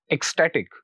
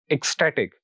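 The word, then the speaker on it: ecstatic: तो हम जो स्ट्रेस होगा वो स्टे पर पुट करेंगे। तो it will be pronounced like this एक्सटैटिक, एक्सटैटिक।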